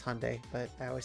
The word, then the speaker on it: Hyundai: Dodge Fiat Ford Honda sorry I pronounce it weird I know it's Hyundai but I always say Hyundai it's Hyundai jaguar and Lancia Land